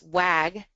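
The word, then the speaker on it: WCAG: Now, the other set of standards that we're going to talk about are, and most people pronounce this WAG 2.0, WC A 2.0, and these are not part of an actual okay, these are actually what you would consider recommendations.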